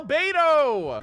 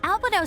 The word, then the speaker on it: Albedo: luck with that oh Albedo albado spends most of his time ah they called his name wrong that's literally how Gene pronounced it in that one voiceover for Jean she says albado and I was like